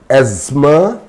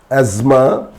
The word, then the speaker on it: asthma: For example, asthma, it's not asthma, asthma, Christmas, Christmas, mortgage, mortgage, it's not mortgage, mortgage, soften, etc.